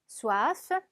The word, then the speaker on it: soif: soif, soif. 자, 얘는 F까지 꼭 발음이 나니까 끝까지 발음해 주셔야 됩니다.